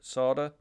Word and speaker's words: solder: pronounce it really weird not solder because there's an L in it but they don't pronounce the L sing slding s a d a r sard um never got it's